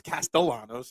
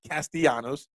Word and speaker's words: Castellanos: Nick Castellanos his name I know it's Castellanos and not castanos but you know it's